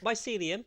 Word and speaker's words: mycelium: Mycelium, which is how it's pronounced, or Mycelium, isn't very known unless you play Minecraft.